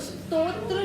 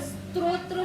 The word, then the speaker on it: स्तोत्र: स्त्रोत्र शब्द भी नहीं है और स्त्रोत शब्द भी नहीं है। वहां से भी कोई अर्थ नहीं बन पाएगा। स्रोत स्रोत मतलब होता है किसी भी चीज का मतलब मानो एक जैसे प्रोडक्शन होता है ना सोर्स। हां सोर्स को बोलते हैं हम स्रोत। स्रोत नहीं है किसी भी चीज का। ये हां। डबल त्र नहीं है। त्र डबल नहीं है। पहले त है फिर त्र है।